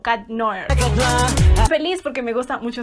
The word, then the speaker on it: Cat Noir: Lo voy a pronunciar mejor así. Porque estaba diciendo Cat Noir y es Cat Noir.